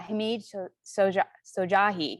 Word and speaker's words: Hamid Shojaee: and colleague and a community evangelist alike uh hamid sojahi right and i pronounce that right yeah it's cool i tried